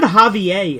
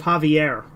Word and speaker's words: Javier: Also, she said Javier instead of Javier. What a weird mispronunciation.